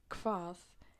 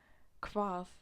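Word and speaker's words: hvað: whom which means she but if H and V are together then there comes a k sound like quath it means what quath it sounds like a k so that's the only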